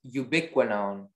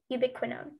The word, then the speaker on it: ubiquinone: your word is ubiquinone ubiquinone may i have all the information please the working pronounced ubiquinone ubiquinone yuba quinone um it's a